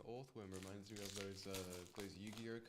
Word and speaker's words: Orthworm: Do you still pronounce it as earthworm because of how the O in worm is pronounced? No. I'm going to say no. I do think it's meant to be Orthworm, but I just can't bring myself to say that when I've already said Orth.